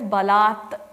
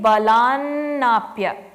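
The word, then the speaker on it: balāt: If you look in line number 3, chiti balat. We pronounce, when we stopped there, it was balat. But because we're going to combine it and keep going through, it will become chiti balanapya.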